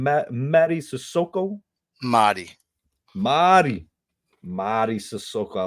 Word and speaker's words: Madi Sissoko: Madi Sissoko.